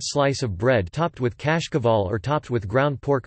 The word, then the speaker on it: cașcaval: In Romania and Moldova, kashkaval Romanian pronunciation, kashkaval, is used to refer to a number of types of yellow medium and semi-hard cheeses made of sheep's or cow's milk.